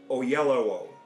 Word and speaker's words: Oyelowo: How do you pronounce that last name? Oyelowo.